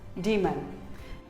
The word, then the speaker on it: daemon: It is not daemon or demon, it is demon, demon.